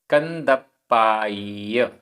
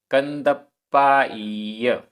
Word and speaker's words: कंदप्पाय: उच्चारण कंदप्पाय आधा प पूरा प कंदप्पाय कंदप्पाय वट्टई आधा ट